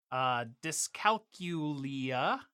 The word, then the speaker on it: dyscalculia: have bad math dyslexia dyscalculia I believe that's how that's pronounced sounds right that's right but in truth it's